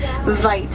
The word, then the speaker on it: wit: And they get their name from a mispronunciation of the Afrikaans word "wit." It's with a V and it means wide.